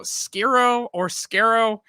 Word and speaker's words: Skero: Our guest tonight, and like I said, I'm going to mispronounce it. It is Michelangelo Skero.